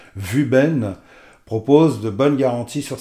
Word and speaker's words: Wuben: je sais par contre ça se prononce vu ben propose de bonnes garanties